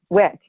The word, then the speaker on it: Wicht: right uh it's it's wick wick so the t is silent got it thank you